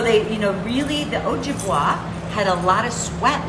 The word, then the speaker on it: Ojibwa: dway oak dway and is the j pronounced ja or is it o might be o right might be a sound like hispanic accent on the jib oh oh jim okay ojibwa ojibwa okay so they you know